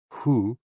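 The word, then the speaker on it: hoo: associated with the kidneys h-o-o pronounced like who which is associated with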